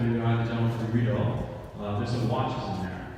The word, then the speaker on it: Riedel: We have a gentleman here from Riedel. He's going to actually correct me on that. It's Riedel. It's the pronunciation.